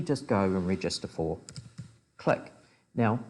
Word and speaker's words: Cliq: team setting where you're all remote is the click embedded system once again you can use it